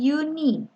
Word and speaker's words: university: Tapi bacanya itu bukan university, tapi uni. Uni. Ya. Jadi kalau uni ini berarti berawalan dengan huruf Y.